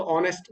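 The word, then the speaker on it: honest: वगैरह नहीं होता जैसे आवर्स होता है आर्स घंटे तो एच तो है उसमें उसको पढ़ते नहीं है आ ओ से स्टार्ट करते उसको नेस्ट है तो ऑनेस्ट बोलते हैं उसको तो इसमें ऐसा साइलेंट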